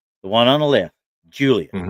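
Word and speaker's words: Giulia: lady right here, the one on the left, Julia. Mhm. It's spelled G U I L I A.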